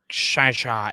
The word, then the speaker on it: Shang-Chi: Shang-Chi and the Legend of the Ten Rings, except I know I pronounced Shang-Chi wrong. It's pronounced... Well, Shai is Chicago, but isn't it? So is it Shang-Chi or is it not? No, it's like Shai-Chi.